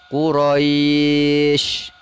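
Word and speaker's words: قريش: dalam satu kalimat Mac maka ketika kita berhenti membaca maka dibacanya yang tadinya Kuraisin dibaca menjadi Quraisy Begitu juga dengan kata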